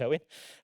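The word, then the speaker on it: Eoghan: And Owen, it's a strange spelling of Owen, it's actually pronounced Owen.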